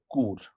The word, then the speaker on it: Chur: We connected to another train from Zurich HB to a town called Chur, which is spelled as CHUR.